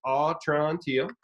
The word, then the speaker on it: Atrantil: That's how you got to pronounce it, Atrantil.